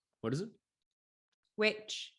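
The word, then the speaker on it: VVitch: Witch. What is it? Witch, but spelled as Vitch. Vitch.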